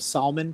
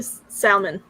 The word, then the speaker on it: salmon: silent i don't know you still get people who pronounce the l in salmon so i'm not too